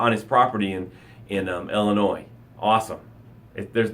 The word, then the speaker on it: Illinois: when I arrive in Illinois is in eight hours he's going deer hunting in his prime on his property in in Illinois awesome if there's the S is silent I think always say illinois's then when you're in